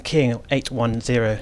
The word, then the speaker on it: King 810: David Gunn from King 810. Is that the best way to pronounce it, with a 0 or an O? O is the way we pronounce it, but I don't think